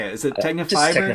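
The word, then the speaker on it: Tecnifibre: Is it Technafiber? Technafiber.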